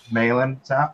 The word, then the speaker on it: Malin: Malin rhymes with Phelan.